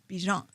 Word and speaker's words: Bijan: So we are making sure that we pronounce his name the way he would like it pronounced, which is Bijan.